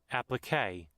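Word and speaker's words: appliqué: Applique.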